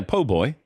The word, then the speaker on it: po' boy: Yeah, po' boy.